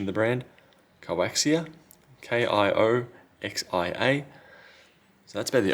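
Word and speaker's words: KIOXIA: I can't remember the pronunciation of the brand. Coaxia.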